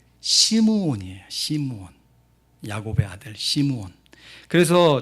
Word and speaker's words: 시므온: 시몬이 자나 시몬 베드로 시몬은 헬라 식 바람 이고요 히브리 식 발음은 시므온이 신문 야곱의 아들 시몬